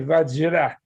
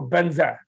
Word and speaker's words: Vajra: Tibetans do, which is they don't say Vajra because the JRA sound is hard for them. They go Banza and this kind of thing.